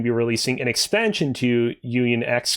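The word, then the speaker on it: Union χ: mobile called kingdom hearts union x or alternatively pronounced union key it's a whole big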